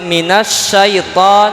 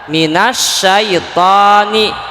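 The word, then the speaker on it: مِنَ الشَّيْطَانِ: alif lam di situ minas syaiton di sini ada alif lam tapi di bunyi dibacanya langsung Nun ke Sya minas syaiton Alif lamnya tidak dibaca hanya saja tetap tulisannya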